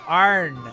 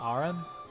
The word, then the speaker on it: Aaron: They go Arn instead of Aaron. Aaron. They'd say it as one syllable instead of two.